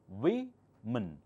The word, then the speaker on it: women: It's written as woman, but pronounced as woman, woman, woman. This one, plural, men. This one changes again to women, women, women.